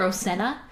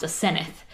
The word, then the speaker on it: Aseneth: Well, they call her Osenna, but we have a friend whose name is spelled the same way, but it's pronounced Aseneth.